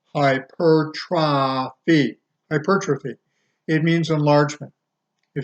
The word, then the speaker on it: hypertrophy: Hyp ER t ro PHY hypertrophy but is pronounced hyper try feet hypertrophy it means enlargement if you get hypertrophy